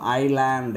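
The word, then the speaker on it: island: பாரு for example பாருங்க ஐ எஸ் எல் ஏன் டி எக்கு முன்னாடி எஸ் இருக்கு அப்ப இதை என்னன்னு படிக்கக்கூடாது எஸ் லேண்ட்ன்னு இஸ்லாண்ட்ன்னு படிக்கக்கூடாது இஸ்லாண்ட்ன்னு சொல்லக்கூடாது அப்ப இதை என்னன்னு சொல்லணும் ஐலாண்ட் ஏன்னா l-க்கு முன்னாடி எஸ் வந்தா அந்த இடத்துல எஸ்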